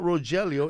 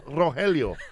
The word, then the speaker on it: Rogelio: It's not Rogelio, it's Rogelio.